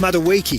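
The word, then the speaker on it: Madueke: It's pronounced Maduiki.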